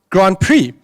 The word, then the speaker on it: Grand Prix: And she said, no, my boy, it's actually pronounced Grand Prix.